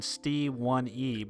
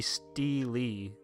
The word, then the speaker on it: Steely: I've been saying Stee1E, but it should just be Steely.